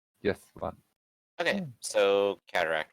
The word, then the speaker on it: cataphract: But Well, usually when you put a PH next to one another, it's more of an F sound. So cataphract, I'd imagine.